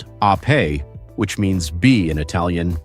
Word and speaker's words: Ape: This is the Vespa Ape, pronounced ah-pay, which means bee in Italian, just as Vespa means wasp.